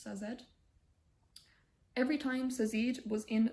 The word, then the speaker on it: Sazed: or says ed zazeed i feel like sazeed sounds better but it's probably pronounced sazed every time sazeed was